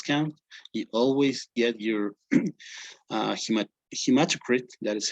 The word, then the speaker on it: hematocrit: You always get your hematocrit, that is how it's pronounced, and the hemoglobin.